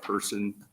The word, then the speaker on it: Pearson: Chairman, Senators, my name's Pearson, spelled like person, Person.